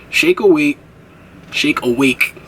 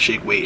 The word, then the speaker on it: Shake Awake: Shake awake, gotta pronounce that, not shake weight.